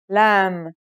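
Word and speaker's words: ل: for this lesson is lam it looks a bit like the previous letter kaf in its isolated and final forms the lamb sounds like the english l very easy to pronounce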